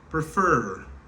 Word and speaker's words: prefer: Donc, qui ça qu'on va me faire là? Moi, monter sous deuxième syllabe là. Prefer.